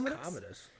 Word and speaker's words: Commodus: I believe it's Commodus.